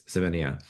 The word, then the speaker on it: Semenya: Sinen, I can't pronounce her last name. It's Semenya.